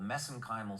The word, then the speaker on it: mesenchymal: I know some of our U.S. viewers are going to they're going to object to me pronouncing that way, but we did our research in Ireland, and that's the way they pronounce MSC stem cells.